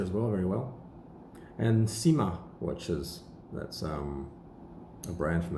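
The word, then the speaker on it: Cyma: And Sima watches. That's a brand from the 1860s as well, from the Jura, Chaux de Fonds. I don't know why it's called Sima, it's C-Y-M-A.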